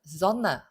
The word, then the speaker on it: Sonne: 5번은 Sonne, Kuss, Fußball, Haus 이렇게 되는데 이 S의 발음을 물어보는 것이에요. 자, S의 발음은 뭔가 하니 S 다음에 모음이 나왔으니까 얘는 Z 발음이 되고요.